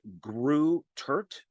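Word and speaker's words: Greutert: So I think it's pronounced Kevin like Grew Turt.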